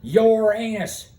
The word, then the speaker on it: Uranus: is pronounced uranus it's not pronounced uranus it's pronounced your anus deal with it just like the uh play